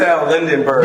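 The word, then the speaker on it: Yaxel Lendeborg: I don't know how to pronounce his name. Yaxel Lindenberg? Yaxel Lindenberg.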